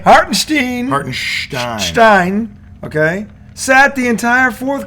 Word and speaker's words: Hartenstein: Hartenstein, okay, sat the entire fourth quarter and they out-rebounded them.